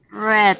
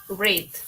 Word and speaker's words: read: En presente se dice read, en pasado se dice red, como el color rojo, ¿sí?